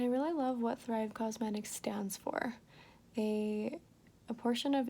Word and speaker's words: Causemetics: And that's why they're Thrive Causemetics. Like not cosmetics, but like cause. Do you see? No, I can't show you. It's spelled Cause.